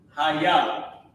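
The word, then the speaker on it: היה: here this is a this a small word Haya okay I think I might have picked up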